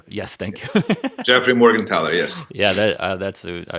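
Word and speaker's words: Morgenthaler: M with the last name that nobody can pronounce the the bar book which is all about techniques is uh I think is Morgan tler yes thank you Jeffrey Morgan tler yes yeah that that's I really enjoyed that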